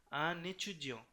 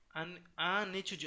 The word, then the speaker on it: un étudiant: তো এটা হলো un étudiant, un étudiant, এখানে কিন্তু আবার লিয়েজন হচ্ছে, কেন হচ্ছে, কারণ এটা একটি এচুজিও, এই যে এখানে আমরা দেখছিলাম থাকলে উচ্চারণ করতে হবে আন এচুজিও, কিন্তু এই টিটা আবার এটার সাথে লাগবে না, আন এচুজিও ইন্টেলিজেন্ট, এটা আলাদা করে পড়তে হবে। হুম, আবার যেমন ধরুন সে